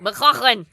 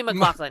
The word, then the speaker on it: MacLachlan: MacLachlan. I like all the "huh" in it. We cut to Billy MacLachlan.